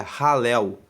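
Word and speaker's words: Hallel: conjunto chamado alu egípcio alu se escreve h a l l e l seria ralel egípcio E ele se chama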